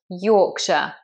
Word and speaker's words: Yorkshire: This is an example of where that shire just becomes a sh. Yorkshire.